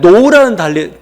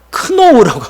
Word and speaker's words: know: 여러분 그 영어에 know라는 단어 있죠. know. K-N-O-W. 날리지도 그 know. 이 사실 헬라어 영향입니다. K 발음 안 하죠. 크노우라고 발음하지 않죠. 근데 원래는 그노시스 이런 식으로 지식이라는 뜻을 가지고 지식.